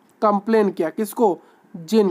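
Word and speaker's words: djinn: का जो जिन है जीन देखिए य लिखा गया है डी डीजन लिखा गया है बट आपको इसको प्रोनाउंस करना है जिन लिखा है डिजन बट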